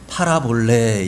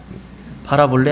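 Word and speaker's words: παραβολή: 헬라어 원어에서는 뭐라고 하냐면 헬라 원어에서는 파라볼레 이렇게 합니다. 외우기 쉬워요. 파라볼레 안 파라볼레 이거 외우라는 얘기는 아니고요.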